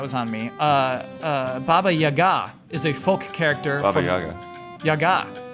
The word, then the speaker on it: Baba Yaga: English uh duub for Spirited Away they said Bobby Yaga too Yaga is the way to say it you got